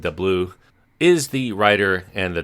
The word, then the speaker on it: DeBlois: Dean DeBlois, I think I'm pronouncing that name almost correct. Some people pronounce it DeBlois, is the writer and the director.